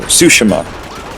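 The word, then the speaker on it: Tsushima: uh I've been playing ghost of sushima or sushima that's how you pronounce it and uh as an open world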